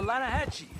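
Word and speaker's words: Lannahechee: The Lanahatchee. It runs right near here. Yeah, but it's pronounced Lanahatchee. Why is everything in English said differently than it's written?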